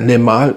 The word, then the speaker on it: Le Male: Ja, er heißt Limal Essence de Parfum, wenn richtig ausgesprochen.